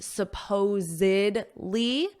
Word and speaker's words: supposedly: Now notice this pronunciation, supposedly. There's 4 syllables, but here it's just supposed.